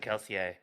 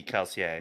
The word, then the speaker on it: Kelsier: I think I think Sanderson actually mentions that when he's talking about like how you pronounce it he's like technically it's it's like French inspired so it should be keler oh is it but he's like I say kelse here but like I say